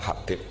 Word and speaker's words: Habib: Itu di harokatnya kitab itu ada yang nulis Hubab. Yang benar, oh enggak, yang benar itu bacanya Habib. Habib itu As-Sulami, itu ikut marga Robi'ah gitu.